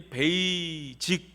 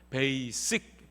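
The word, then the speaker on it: basic: 것이 있어요 우리가 이 베이직 이렇게 얘기를 많이 하잖아요 근데 이거 잘못된 발음 입니다 베이지 d 아니고요 베이 씩 베이스 뭐 기본 돈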